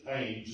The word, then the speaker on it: Thames: We're going to go up on the River Thames, which is we call it, we would pronounce it the Thames if it were here in America, T-H-A-M-E-S.